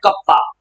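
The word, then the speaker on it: kappa: हाँ, इसको प्रोनाउंस करते हैं कप्पा।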